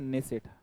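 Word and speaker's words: Knesset: को क्या बोलते हैं नेसेट यह जो नेसेट है कुछ इस प्रकार से के साइलेंट रहता है इसमें नेसेट तो कंट्री और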